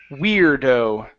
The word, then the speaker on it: weirdo: the word we weirdo so control your tongue on that R Weir weirdo weirdo okay push the tongue down on that r instead of Weir weiro weirdo weirdo weirdo that's the sound there you go good one